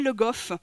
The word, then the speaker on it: Legault: Le WF, c'est une graphie, mais c'est pour montrer une nasalisation, c'était pas prononcé Le Goff, donc finalement Le Go, c'est plus proche de la prononciation parlée de ce patronyme au XVIIe siècle.